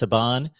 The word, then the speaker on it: Saban: uh nick um saban um i believe it's pronounced saban uh somebody can look him up in the